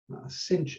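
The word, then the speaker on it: sinh: will talk about them cinch and kosh usually is how they're pronounced but we'll get there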